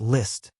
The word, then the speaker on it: Liszt: Come, repeat after me, Liszt. Li T. That's right, just say it like this, Liszt.